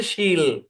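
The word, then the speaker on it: she'll: শি will contraction হচ্ছে শি অ্যাপোস্ট্রোফি double L উচ্চারণ হচ্ছে শিল শি উইল না শিল জি 31 বলেন স্যার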